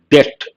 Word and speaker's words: debt: you all know and here the letter B is silent debt debt sustainability and helping